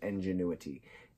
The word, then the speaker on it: ingenuity: went into this it's the best way to say ingenuity ingenuity five syllable word I never tell friend